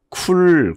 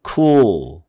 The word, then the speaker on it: cool: 아래로 내려가지고 이거를 쿨 그러는 게 아니라 cool. 아예 혀가 아래서 끝나는 거예요.